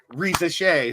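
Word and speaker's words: Risacher: It's turning into where is Bronny going instead of Reza Shea, who is that's how you pronounce Zachary's name.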